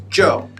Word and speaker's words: Zhou: And another ZH name is Zhou. Zhou. Zhou, yes. Z-H-O-U. Yeah, this time is correct. Zhou. Zhou. Good. First tone.